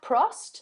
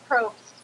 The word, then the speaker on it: Probst: Is it Jeff Prost? Is that how you pronounce it? Jeff Probst.